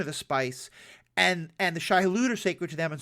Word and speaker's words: Shai-Hulud: connected with the worms, the Shai-Hadat. I'm probably pronouncing that wrong. Shai-Hulud, thank you.